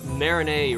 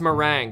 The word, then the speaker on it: meringue: glass I'm meringue it's meringue gosh okay yeah that's how you say it I don't know the